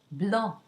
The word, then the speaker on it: blanc: And so let's look at some words where the final consonant is not pronounced. Let's go back to our color green in the masculine singular. Vert, or the color white, blanc.